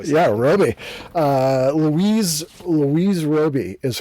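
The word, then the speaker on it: Robey: Yeah, Roby.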